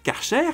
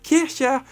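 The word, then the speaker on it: Kärcher: et ensuite parce que karcher en fait on le prononce mal en France c'est un nom allemand et on devrait dire Kesha mais bon à ce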